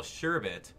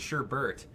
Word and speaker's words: sherbet: Plus, now we all know how to spell Sherbet. Boy, was that a surprise. Yeah. That's funny, because everyone spells it Sherbert, or they pronounce it that way.